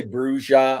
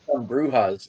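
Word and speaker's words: Brujah: 96 which is why when I say bruja I always say the hard J because brewhas like the last 10 or 15 years always before that it was bruja it was never bruha for like 20 years straight maybe even 30 and then after W whim come out idiots started saying brewha it's like it's not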